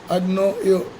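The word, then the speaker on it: ἀγνοέω: The English word ignorant derives from the Greek word agnoio, and it's pronounced as agnoio.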